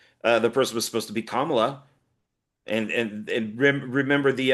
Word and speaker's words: Kamala: So there were a couple of those types of I love that you say her name right because like everybody says that uh um Camala, you know, right?